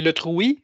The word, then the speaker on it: Letrouy: Alors, ben, ce soir, sans plus attendre, c'est Julien Letrouy, c'est comme ça qu'on prononce votre nom de famille? Ouais, exactement.